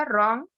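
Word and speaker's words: wrong: Next है आपका रॉन्ग, रॉन्ग, RONG, डब्ल्यू की साउंड इसमें कहते हैं साइलेंट है, तो यहाँ पे डब्ल्यू लेटर क्या हो गया आपका, साइलेंट लेटर हो गया।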